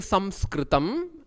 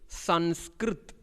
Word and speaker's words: Samskritam: In Hindi, instead of saying Samskritam, how they say is Sanskrit, because they will not pronounce the A at the end of any letter.